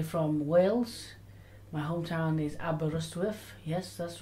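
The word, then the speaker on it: Aberystwyth: and I'm actually from Wales my hometown is aberrustwif yes that's right aberystuff don't worry if you can't read it or spell it doesn't matter and uh I've had one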